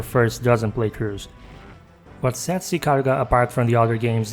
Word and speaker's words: Ikaruga: And yeah, as I said, Ikaruga, that's how it's pronounced.